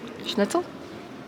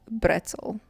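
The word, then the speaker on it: Brezel: do you say pretzel schnitzel no okay I'm sorry guys but that was just so funny um pretel in German for everyone that's wondering is bretel yes not schnitzel schnitzels are what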